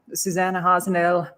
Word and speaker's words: Susanna Hasenoehrl: And yeah, Susanna Hasenoehrl, that's the correct pronunciation for all the MCs out there.